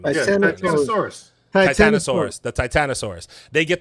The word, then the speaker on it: Titanosaurus: Then they go and they get the sample from I'm gonna say the name wrong. The Titan. How the fuck do you say the name? Titanosaurus.